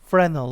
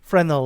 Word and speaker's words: Fresnel: It's spelled like a Fresnel lens, but I think this S is silent. Fresnel lens, because of its large area.